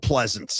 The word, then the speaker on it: Pleasants: Donald Pleasants. Donald Pleasants. is Donald Pleasants. Different spelling, same pronunciation.